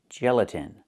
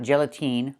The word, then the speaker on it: gelatin: The last vowel is not the long e like green beans. It's the short i like this is. It's more open. Not e but I gelatin. So again, not gelatine but gelatin.